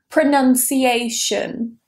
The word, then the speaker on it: pronunciation: So the first word here is pronunciation. Pronunciation. Now, a lot of people say pronunciation, even natives. So if you say pronunciation, you're not alone. Natives do it as well. Pronunciate. So the stress is there.